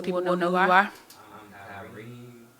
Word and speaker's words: Careem: Careem it is. I'm Careem.